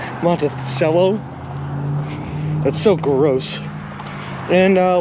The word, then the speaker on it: Monticello: up monticello indiana and they showed corrupt pronunciation is with an s monta cello that's so gross and